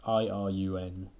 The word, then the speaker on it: Irun: she turned to the your name is iRun that's i r u n could just be pronounced iron but I'm going to say iRun she said she turned